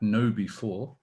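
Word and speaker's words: KnowBe4: awareness advocate and i'm i'm reliably informed it's pronounced at know before yeah it is indeed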